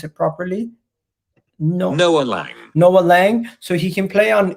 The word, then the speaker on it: Noa Lang: name let me just find out how to pronounce it properly no no noah lang so he can play on he can play